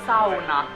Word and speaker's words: sauna: Sauna. Quite hard pronouncing.